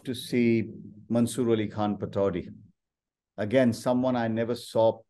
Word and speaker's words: Pataudi: How do you pronounce the name again? Tiger Pataudi.